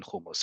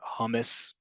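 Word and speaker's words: hummus: you really haven't eaten kumus first off it is is not humus it has never been humus even if you want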